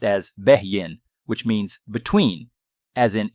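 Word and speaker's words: בֵּין: The second word is H996, pronounced as Behyin, which means between, as in intervals in between or space in between.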